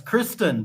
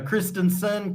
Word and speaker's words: Christen: do you pronounce that oh it's Kristen but a lot of people they go Christensen Christian but no Mitch Kristen yeah Kristen yeah because